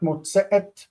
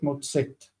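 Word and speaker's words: מוצאת: Not motzeet, but motzet.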